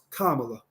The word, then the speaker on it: Kamala: But she says that her mother named her Kamala, and it's pronounced Kamala.